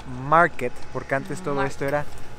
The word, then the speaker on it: Markt: le decíamos plaza marc ya aprendimos que no se dice marc es la plaza market porque antes todo esto